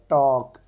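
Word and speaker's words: talk: क्या है column in silent हो गया आपका टॉक एल साइलेंट हो गया आईलैंड आई एस साइलेंट हो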